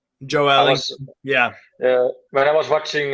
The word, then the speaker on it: Joelinton: Joelinton, as they say in Brazil. That's actually his real name, how you pronounce it. Joelinton.